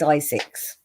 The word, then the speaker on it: Zzyzx: It's pronounced Zizix.